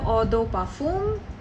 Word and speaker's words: Eau de Parfum: So talking about perfumes, so we have Eau de Parfum, how you pronounce it in French.